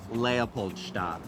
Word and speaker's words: Leopoldstadt: with this play, which I want you to pronounce correctly for the world. - "Leopoldstadt."